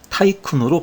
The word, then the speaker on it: tycoon: 원래 수양대군, 안평대군 할 때의 대군이 영어로 넘어가면서 타이쿤으로 발음이 바뀐 것입니다.